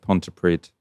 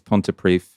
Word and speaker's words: Pontypridd: We both messed up there, Ash, because we both said Pontypridd. It's Pontypridd.